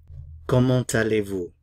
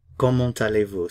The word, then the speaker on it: comment allez-vous: Now, you'll notice I did pronounce the T here, and I'll explain that at the end of the video. Comment allez-vous?